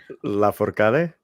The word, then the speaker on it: Lafourcade: Lafourcade.